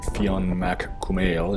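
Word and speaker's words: Fionn mac Cumhaill: that the irish giant finn mccool or fiona mack kumail in irish or my best approximation of the pronunciation was challenged to a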